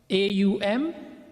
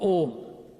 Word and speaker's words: Om: It is either Aum or Om. Right? We'll talk about that briefly. So in Sanskrit it's spelled A-U-Ma, then it's broken down to O and Ma, Om. So if you say it's O-M, you're not wrong.